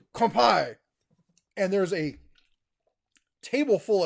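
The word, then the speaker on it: 乾杯: like this is kampai she's like okay come by i'm like no you say kampai and there's a table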